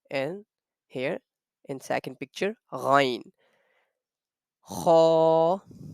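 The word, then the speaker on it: غ: to say Kha and Ghain perfectly according to the Arabic rules. So kha and ghain, the point of pronunciation, the sound of kha and ghain comes out from the top of our throat.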